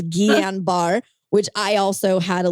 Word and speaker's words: Guillain-Barré: Which we had to look up how to say it because I want to call it Julian Barr because it looks like that, but it's Guillain-Barré, which I also had